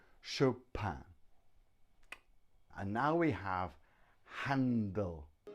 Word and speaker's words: Chopin: pin but show pan-pan which is a very French pronunciation Chopin and now we have